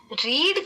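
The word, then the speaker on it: read: जैसे इसको देख लो रीड का जो थर्ड फॉर्म है ना उसको रेड बोलते हैं स्पेलिंग से है प्रनंसीएशन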